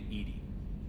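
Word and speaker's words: EDI: why are you named ed ed is the phonetic pronunciation of Ed I that is an acronym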